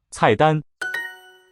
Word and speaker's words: 菜单: As it happens, numbers 1 and 2 have the same tone pattern. Listen for that. It's falling tone on the first syllable and then high level on the second.